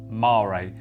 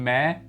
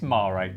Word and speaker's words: Mare: The gin we're trying today is Gin Mare, pronounced Mare. Some people call it Gin Mare, but it's Mare.